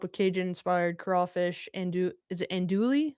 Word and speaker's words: andouille: Is it andouille? How do you say that? I feel very out of touch. Andouille.